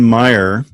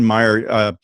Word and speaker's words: Maier: what captured you about her story well vivian maier which is spelled ma i er worked as a nanny